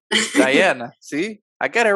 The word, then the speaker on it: Dayana: Or is it, how do you pronounce it? Diana. Diana.